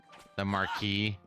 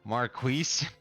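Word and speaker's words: Maquis: Is when the Cardassians had to deal with the Marquis, and they pronounced it properly. It's like, no, they should have been like, we're being attacked by the Marquise.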